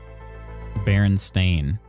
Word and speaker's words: Berenstain: It actually is spelled S-T-A-I-N, I'm pretty sure. Berenstain.